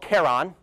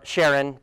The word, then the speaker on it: Charon: Of course, Pluto has a monstrously large moon compared to it called Charon. You may have heard it pronounced Charon. Both are correct pronunciations. I like Charon just because it sounds cooler. And so here's Pluto.